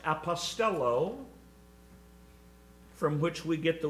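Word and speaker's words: ἀποστέλλω: the father sent him the greek word translated sinned is pronounced apostello from which we get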